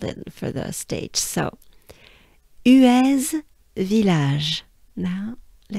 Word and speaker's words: Huez: on the graph but for once here we pronounce that last letter the funny z so z who is